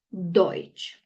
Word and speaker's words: Deutsch: Se dice Deutsch, ¿cierto?